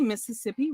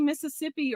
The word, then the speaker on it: Mississippi: but they're talking about how to say Mississippi or Mississippi yes the Mississippi um yes in Mississippi they say it like that like Mississippi the middle is this gone yeah it was so